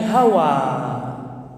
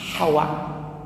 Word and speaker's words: Hawa: Bacanya ha Hawa. Kalau orang Indonesia hawa. Hawane piye toh, Bapak? Adem apao panas? Hah? Adem. Hawa. Nah, kalau istrinya Nabi Adam itu apa? Ha. Hawa. Hawa. Ha begitu. Nah, Adam dan Hawa dipanggil